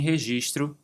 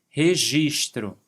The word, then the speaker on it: registro: O trabalhador informal é aquele que trabalha por conta própria e sem registro no governo. Atenção para essa pronúncia que até os brasileiros erram bastante. Registro. Registro.